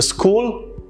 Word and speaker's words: school: it was pretty sweet a common problem that a lot of indians face and a lot of people in south asia face is that they tend to add the e or sound to words that start with s a school is cool have you heard this